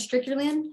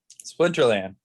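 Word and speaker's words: Splinterlands: Stricterland? How do you pronounce that? Splinterland.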